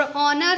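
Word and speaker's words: honour: और ऑनर है, इसका भी क्या होते हैं, ऑनर में एच साइलेंट होते हैं, तो यहाँ पर जो इसका प्रोनाउंसिएशन है, फर्स्ट साउंड ऑफ प्रोनाउंसिएशन है वो आ है, तो यहाँ पर भी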